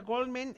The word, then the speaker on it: Goleman: super ultra mega conocida uno se pronuncia goldman y y este entonces